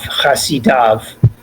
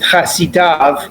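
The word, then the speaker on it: חֲסִידָו: So typically we would have kamatz yud vav when we want to pronounce av, chasidav. But the verse eliminates the kamatz and the yud. That's what I want you guys to take note of, that we pronounce it chasidav even though the yud is eliminated.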